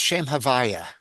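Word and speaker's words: שם הויה: Um, it's pronounced Shem Havaya. Shame Havaya.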